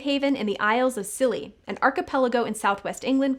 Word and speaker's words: Scilly: found a safe haven in the Isles of silly an archipelago in Southwest England comprising five inhabited islands and a lot of rocks and yes it is pronounced silly the Dutch gave Chase hoping to bombard the